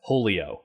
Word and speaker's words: Hole.io: So I think it's supposed to be pronounced Holio. And it is a competitive